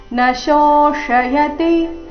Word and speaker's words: ನ ಶೋಷಯತಿ: ಕ್ಲೇದಯಂತ್ಯಾಪೋ ನ ಶೋಷಯತಿ ಮಾರುತಃ ನಶೋಷಯತಿ ಈ ಶಬ್ದದಲ್ಲಿ ಮೊದಲು ತಾಲವ್ಯ ಶ ನಂತರ ಮೂರ್ಧನ್ಯಾಶ ಬಂದಿದೆ ನಶೋಷಯತಿ ಮಾರುತಃ ನೋಡೋಣ ಪೂರ್ತಿ ಶ್ಲೋಕ